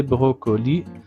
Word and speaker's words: brocolis: Ce sont des brocolis sans prononcer le S final.